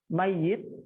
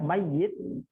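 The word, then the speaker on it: ميّت: Itu dalam bahasa Arab mayit ya, ya-nya pakai syiddah, mayit dengan mait ya, mait atau mim ya-nya sukun.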